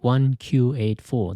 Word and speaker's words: 1Q84: In 2010, he wrote 1Q84. The title is taken from George Orwell's 1984. In Japanese, the letter Q and number 9 have the same pronunciation, so you can read it as 1984.